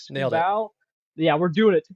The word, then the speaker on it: Skubal: Skubal. Yeah, we're doing it. Skubal.